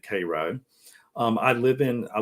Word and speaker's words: Cairo: georgia called cairo georgia it's spelled like cairo egypt but we pronounce it cairo um i live in